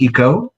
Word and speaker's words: Ico: hers who said uh this is Eco their name is spelled Ico he paused for a